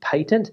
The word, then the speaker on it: patent: interested to note that patent is pronounced in British English with a soft A, as in pat, not a hard A, as in plate, which is the American English pronunciation.